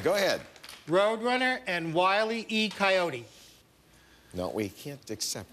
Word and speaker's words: Wile E.: You added an extra syllable. You did Wiley E, and that was pretty easy to do, unfortunately, for Jim, but good for you, I guess.